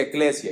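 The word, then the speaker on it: ἐκκλησία: La iglesia viene de un vocablo en griego que se pronuncia eclesia y básicamente a lo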